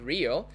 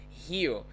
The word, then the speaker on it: Rio: which by the way is not real it's hero right in portuguese we say hiyo g janeiro it's not real so it's here now